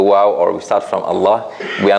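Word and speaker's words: الله: this word Allah right it's always soft except when it comes in this word Allah that sometimes it will be soft sometimes it will be heavy or strong only in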